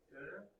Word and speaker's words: Döner: How do you pronounce? K-Rob. It's good. Yeah. What do we have? Döner kebab. Döner.